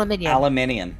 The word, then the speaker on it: aluminium: going alumin it is it really is Al aluminium it legitimately is that way well how come nobody pronounces it like that I don't know American thing maybe aluminium aluminium aluminium yeah yep oh yeah it's even spelled like that I fix zebra pretty